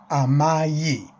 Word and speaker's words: amai: Although the I sounds like a Y, it has a Y sound in it, but it's just the letter I. A-M-A-I, spelled this way. Amayi, amayi, amayi.